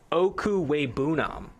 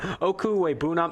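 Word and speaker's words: Okwuegbunam: That's what they call him on campus, but I'm going to go ahead and pronounce this name here. Okuwebunam. I looked up the pronunciation right before here, but Okuwebunam, Albert Okuwebunam, number 5 tight end on the board.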